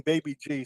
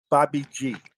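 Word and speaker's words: Bhai Ji: it well um Baby G they've been saying Baby G since the 1930s and everyone's been laughing at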